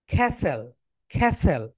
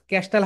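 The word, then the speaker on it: castle: বলি ক্যাসেল কিন্তু ক্যাসেল এখানে হচ্ছে টি সাইলেন্ট টি এর উচ্চারণটা হবে না খেসেল খেসেল মানে ক্যাসেল হাউস ক্যাস্টাল হাউস যেগুলো দেখো বাংলাদেশের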